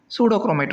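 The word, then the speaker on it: pseudochromatic: பட் ஆஸ் in pronunciation we have to pronounce like pseudochromate only.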